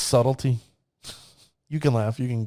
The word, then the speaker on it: Subtlety: the next card i call this subletty because i it's spelled subletti but i know it's subtlety you can laugh you